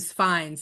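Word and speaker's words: Fiennes: I want to say it's just F fin fines it is final not for nothing so we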